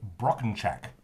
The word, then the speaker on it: Brockenchack: of us and they're all from the brand broken chak have i pronounced that correctly perfectly excellent wow uh there's